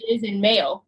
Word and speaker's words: Ismail: So his Instagram is @_call me Ishmael, and Ishmael is spelled ISMAIL_. Okay, so, no H. Nope. Okay. Nope. He always like, is that your mail? And I'm like, or you could just say is in mail.